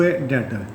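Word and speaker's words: debtor: और डेटर किसे कहते इस बी है व साइलेंट है डटर इसको क्या बना है डटर टर उधार लेने वाला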